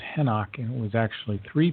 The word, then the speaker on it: Enoch: out in this lineage here is that the Enoch was actually pronounced henock and it was actually three people henock the